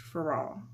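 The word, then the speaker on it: Féraud: I don't think you pronounce the D in French. Farad. I don't know. Farad.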